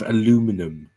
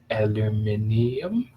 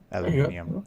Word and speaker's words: aluminium: up with americanisms with aluminum and all this aluminium it's aluminium come on now that's the proper way literally everyone says alumin except America yeah and the whole